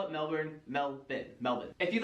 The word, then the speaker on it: Melbourne: you go to Australia do not call the city in the South Melbourne that's not how they pronounce it there in Australia it is melbour melin not melburn locals will love to